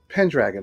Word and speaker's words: Pendragon: this whole time oh I say it in a very American Way Pendragon that's how great